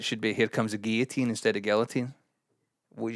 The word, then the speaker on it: guillotine: be here comes a guillotine instead of guillotine. What do you mean by that? It should be guillotine. Why? Cuz it's a French word pronounced guillotine.